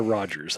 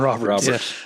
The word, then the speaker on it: Roberts: Not a Rogers. I keep saying Rogers. It's a 27 Roberts.